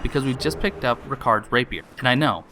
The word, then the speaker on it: Ricard: And we know that because we've just picked up Ricard's rapier. And I know, I just called him Rickard at first, but his name's Ricard. At least that's how he pronounced it.